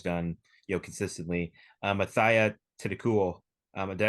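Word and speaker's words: Atthaya: of what I've been going with yes yeah ataya I mean she's just been uh unreal you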